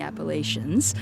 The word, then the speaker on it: Appalachians: the Rockies and the Appalachians. So I know that that's you know, not the most popular pronunciation, but I always say, "Hey, that's how we pronounced it there."